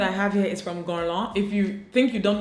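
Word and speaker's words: Guerlain: have here is from gone long if you think you don't know this brand you know it's i used to pronounce it goley before i knew better french words stress me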